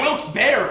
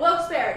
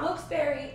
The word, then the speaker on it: Wilkes-Barre: He's saying it's pronounced Wilkes-Barre! I told you! Wilkes-Barre, not Wilkes-Barre, Wilkes-Barre.